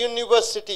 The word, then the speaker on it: university: See, A European, A university, you don't use.